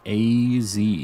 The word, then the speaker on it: AZ: It's pronounced AZ. It's pronounced AZ, huh?